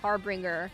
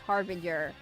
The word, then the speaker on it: harbinger: Finally let you all know in Impact I kept thinking it was pronounced harbringer this entire time and it's pronounced harbinger.